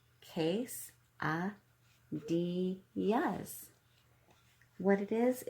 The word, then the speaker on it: quesadillas: Quesadillas is pronounced quesadillas.